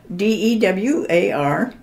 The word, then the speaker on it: Dewar: How do you spell that? D-E-W-A-R.